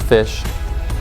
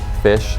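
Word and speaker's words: Phish: all time which is fish spelled with a pH fish I was the oldest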